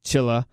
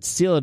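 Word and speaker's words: Cilla: It's C-I-L-L-A. It's not C, yeah. I think it's Chilla.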